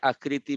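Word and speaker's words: ء: হামজার উচ্চারণ কিন্তু নামের সঙ্গে উচ্চারণের সঙ্গে মিল নাই। হামজার উচ্চারণটা হচ্ছে আ।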